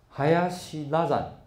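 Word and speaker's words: 林羅山: 这个人叫做海亚西拉展，这个林念成海亚西。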